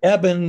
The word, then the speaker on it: Eben: Eben like Evan. Right. And it originally came from Ebenezer 6 generations ago. They dropped the Ezer, thank goodness. So it's now just Eben. But that's an easy way to remember the pronunciation.